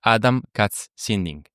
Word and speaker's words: Adam Katz Sinding: So guys, let me introduce actually Adam, Katz, Sinding.